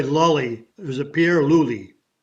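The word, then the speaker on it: Lulli: Pierre, well, I always say Lully. Was it Pierre Lully? Luli, Piero Lully.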